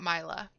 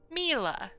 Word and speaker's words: Myla: youtube uh but apparently her name is not myla as it is spelled it's not myla it's pronounced mila why is it spelled